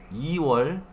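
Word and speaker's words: 이월: Si recuerdan, los números chino coreano, il, i, sam, sa y así, ¿sí? Enero, irol, febrero, iwol, marzo, Samuel, abril, Sawol, así en orden.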